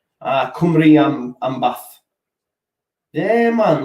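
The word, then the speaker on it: Cymru: all that stuff um why peacock says karam is pronounced kumari kumri um an bath damn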